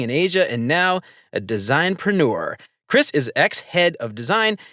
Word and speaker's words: designpreneur: And we're going to talk a lot today about what Chris calls designpreneur. How do you pronounce that, by the way?